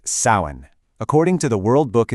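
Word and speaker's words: Samhain: And just so you know, it's pronounced sin.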